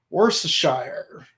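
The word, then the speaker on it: Worcestershire: did say yes and I did say it right because because the sauce came from the region of worshire but yeah sardines who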